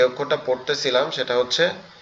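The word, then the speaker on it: ح: আমরা এখানে যে অক্ষরটা পড়তেছিলাম সেটা হচ্ছে হা। এই হার উচ্চারণটা একটু কঠিন। এই হাটা হচ্ছে আমাদের এই যে গলার এই যে অংশটা এইযে তৃতীয় অংশটা গলার এযে দ্বিতীয় অংশ যেটা আছে এখান থেকে উচ্চারণ হবে।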